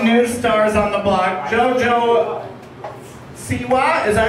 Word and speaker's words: JoJo Siwa: Oh my gosh, one of my favorite new stars on the block, JoJo Siwa.